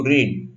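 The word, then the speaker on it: read: रीड का रेड हो जाता है, रेड हो जाता है। पास्ट टेंस और पास्ट पार्टिसिपल का उच्चार एक ही है, रेड रेड।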